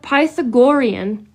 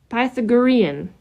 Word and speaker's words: Pythagorean: So, it's called Pythagorian. And I know I'm saying it wrong. Numerology. Path Pythagorean. Pythagorean numerology.